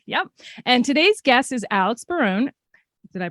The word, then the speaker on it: Alex Barone: daughter faith faith yep and today's guest is Alex Baron did I pronounce that correctly okay good um actor producer